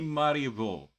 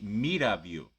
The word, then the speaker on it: Mirabeau: Comte de Maribor. No. Comte de Mirabeau. I am not good with French.